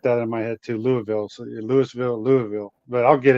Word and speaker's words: Louisville: up, but you know, we're Louisville. We got to practice that one, Dan, because if we don't say it right, boy, when you're there, they really get you. But anyway, Louisville, uh is a great town.